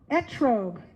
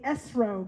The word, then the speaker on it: etrog: Etrog. Oh, if you're Yiddish speaking, you'd say esrog, right? I'm sure some of you say it that way.